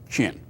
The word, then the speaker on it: Qin: yao yan and ji the q is pronounced in the pinyin system as ch so this is chi and this is chin uh so different warring